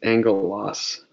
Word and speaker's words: angelos: So gamma is almost always pronounced like a G sound. There are a couple of exceptions. And one that's kind of important is this word. This is angelos, which is the word that we translate angel.